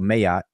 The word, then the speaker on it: Ma'at: So he's using the term Ma'at, or Mayat as he pronounces it, and the word Hotep.